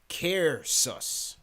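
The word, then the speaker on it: Caersws: He says his city is pronounced Cairsus. All right, so salute to Ryan for Cairsus, Wales.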